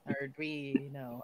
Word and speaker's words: Arduino: Arduino.